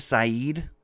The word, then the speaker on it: Saeed: Rashida Saeed.